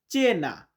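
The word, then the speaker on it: cena: উচ্চারণটা এমন হয়। সি না চি। চি দিয়ে হয় চে না।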